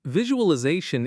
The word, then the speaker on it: visualization: And a lot of learners put the stress at the end and say vi-ju-al-i-za-tion, which shifts the whole rhythm of the word. The zay is where the weight lives. And visualization is such a powerful